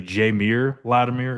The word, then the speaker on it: Jameer Latimer: I've tried to pronounce his name, but I think it's actually Jameer Latimer is how you say it, which is, of course, Amari Latimer's brother.